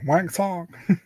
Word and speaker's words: Wang Tong: That's how you pronounce it. Wang Tong.